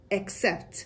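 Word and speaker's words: accept: بلد نبودی اکسپت اکسپت اینو خیلی از زبان یه جور دیگه تلفظ می‌کنن که ما اینجا نمیخوایم اصلاً اون اشتباهه رو یاد بگیریم اصلاً نمیگیمش ولی اونایی که یه جور دیگه تلفظ می‌کنن یادشون باشه تلفظ درستش میشه اکسپت خب پس ولی او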